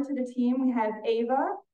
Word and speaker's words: Ava: the team we have Ava although she spells her name Eva it is pronounced Ava um Ava is a